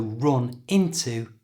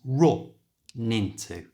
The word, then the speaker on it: run into: And we can join these two words together simply by moving the n from the end of run to the front of into. So run into becomes run into.